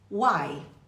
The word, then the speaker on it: uai: então não se esqueça a pronúncia de uai é simples uai como nós dizemos em Minas Gerais nós Ainda temos o